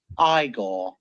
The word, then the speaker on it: Igor: piece of equipment I see you must be eigor now it's pronounced igore so the next part is just funny it's